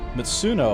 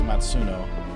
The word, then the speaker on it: Matsuno: I think his name is Matsuno.